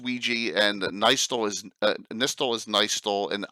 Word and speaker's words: Ouija: just so we know Ouija is pronounced Ouija, and Nistel is Nistel, and Ius, and it's pretty amazing.